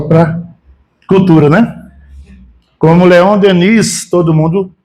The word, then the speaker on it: Denis: Cultura né como Leon Denis todo mundo muita gente fal Leon Deni o s é mudo Leon Deni tem um s no final mas a gente não diz Denis no plural bom então esses assuntos